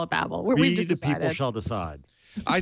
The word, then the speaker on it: Babel: ancient history and just spell it Babel but pronounce it Babble Babble yeah that's what I hope